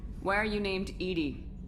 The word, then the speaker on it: EDI: inquiry yeah your name why are you named edie edie genetic pronunciation of edi that is an acronym for